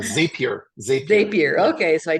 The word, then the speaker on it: Zapier: the the zap or zape how do you pronounce that H zapier zapier zapier okay so I tested out a